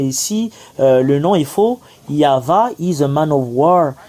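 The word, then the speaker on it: Yahweh: y avit qu'ils ont écrit ici mais c'est yava qu' on le prononce nous le voyons en gros et en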